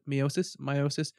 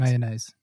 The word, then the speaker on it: meiosis: called, as I've said, meiosis, meiosis. I've heard lots of different pronunciations. Mayonnaise. No, never that's, that one. That's the one that it isn't. It's close, but it's not. Meiosis.